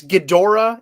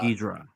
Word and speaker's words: Ghidorah: If you're a baby boomer, you probably call him Ghidra. If you're my age and you grew up with the Heisei movies, you probably call him Ghidorah. If you're in Japan, it's Ghidorah.